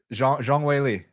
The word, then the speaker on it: Zhang Weili: Zhang Weili.